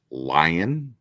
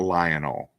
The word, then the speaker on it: Lion: or whatever but yeah lion lion l Johnson he's um uh um no it's lion that's his name his first name and then his last name is El Johnson not Lionel or Lionel lion